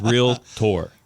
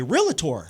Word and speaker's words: realtor: it's not real tur right real tur it's real tour real tour real tour real T I think it's uncomfortable I don't like saying it but it sounds I don't know it's more fun to say realator I agree realator they should change it something